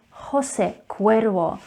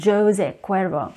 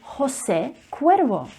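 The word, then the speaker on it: José Cuervo: most popular tequila brands in the world is pronounced as jose cuervo jose cuervo not jose cuervo remember that the letter j is actually pronounced as her sound so jose cuervo and we are staying with the alcohol brands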